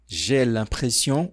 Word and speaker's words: impression: Aqui você pode falar um pouco mais aberto, gression ou mais fechado. Gression. Ambas estão corretas.